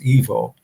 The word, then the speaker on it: Ivo: EVO, excuse me, IVO, but it's pronounced EVO.